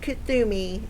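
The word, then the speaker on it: Kuthumi: Kathumi, pronounced Kathumi, is an ascended master who appears as a well-dressed Indian man with a golden aura.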